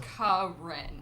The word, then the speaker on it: Karine: So it says here your name is Tax Karine. consultant. Corinne. It's pronounced Corinne.